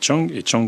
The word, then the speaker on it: Dschang: de Nantes Métropole et Chang qui n'est pas en Asie, mais en Afrique. Voilà. Parce que ça s'écrit DSCHANG.